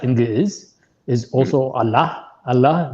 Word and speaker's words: Allah: Allah, the way Arabic, it's not spelled with H at the end, but it's pronounced with H at the end. Giz, yeah.